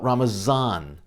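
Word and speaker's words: رمضان: instead they call it ramazan in farsi the language of persia the letter d is pronounced like the letter z but don't be fooled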